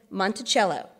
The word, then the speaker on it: Monticello: gardens on the mountains beyond then he said monticello phonetically monticello little mount ah jefferson noted your cee